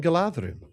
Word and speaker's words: Galadhrim: And that's because, why is it Galadhrim and not Galadhrim? Because you've got the two consonants, the DH, which is pronounced like a voiced TH, so like there or then, and then the R. And so that's two consonant sounds. And that's why it's Galadhrim, not Galadhrim.